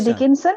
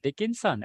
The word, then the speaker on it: Dickinson: day yes a by American poet Emily Emily Dickson is it yeah yeah Dickinson oh I pronounced dick dickon yeah got it got it